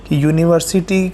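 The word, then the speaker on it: university: है सही क्या है यूनिवर्सिटी में यह वाला सायों साउंड आएगा यूनिवर्सिटी में यू वाला साउंड आएगा ना और जो यू वाला साउंड है वो वास्तव में कॉन्सोनेंट वाला साउंड है और कॉन्सोनेंट वाला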